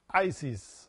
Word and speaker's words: Isis: must sing the mantra Isis as follows. Isis. Prolong the sound of the two letters and divide the word in two syllables. Is, is.